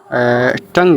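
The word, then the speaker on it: tongue: टंग टंग टंग।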